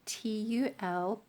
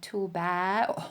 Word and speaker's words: Tulbagh: So, this one is called TULBAGH, and I know it's an odd spelling, Tulbagh, and I can imagine that quite a few people will be pronouncing it TULBAGH or TULBAGH or something like that. But here in South Africa, it's TULBAGH, and then you have the on the GH, as if you're clearing your throat.